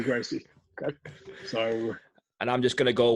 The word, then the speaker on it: Gracie: of today I'm gonna go with the straight Brazilian way of saying I'm gonna go Shan hee-hee yeah what'd you grossie and I'm just gonna